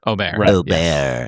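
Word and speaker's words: Åberg: And and is that first of all, let's get the pronunciation right. It is. It's Oar. Ober.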